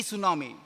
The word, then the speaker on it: tsunami: tsunami first news T tsunami because that people did not know how to pronounce the word so after that no no T is silent it should be pronounced as tsunami so these are the words